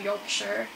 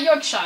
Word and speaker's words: Yorkshire: Yorkshire and Humber, the guy that's using tilt controls, he's from Yorkshire. It's not Yorkshire, it's actually pronounced Yorkshire.